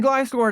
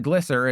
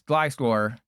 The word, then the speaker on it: Gliscor: It's the fact that they haven't gotten to it yet, but we're playing Glysscore today. And yes, that's how you pronounce it. It's not Glycer. It's Glysscore. Just like how I gllycored with your mom last night.